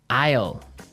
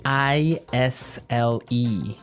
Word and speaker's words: aisle: spelled so strangely right we don't pronounce the S the S is silent it's true Isle so